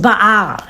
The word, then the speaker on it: Baal: His name is actually properly pronounced Baal.